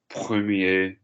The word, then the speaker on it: première: Premier, première, dernier, dernier. Listen to me. Petit. Male, female. Premier, we're not pronouncing the R on the end. Première, we're pronouncing the R on the end.